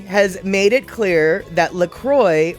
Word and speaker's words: LaCroix: lacroix no we say lacroix like in it's lacroix has made it clear that lacroix rhymes with enjoy um seriously the company